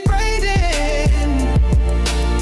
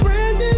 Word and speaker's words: Braden: His name is Braden. Spell it without a Y. His name is Braden. It's not Brandon, say you're right.